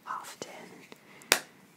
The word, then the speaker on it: often: I don't know how often. Often. People hate it when you pronounce the D in often.